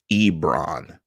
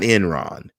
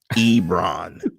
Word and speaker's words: Ebron: with the addition of Ebron not Enron Ebron as I'm getting ripped every week in the comments about my pronunciation of the Titans name II they must be